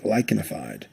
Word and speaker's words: lichenified: The CH here is pronounced like a K, lichenified.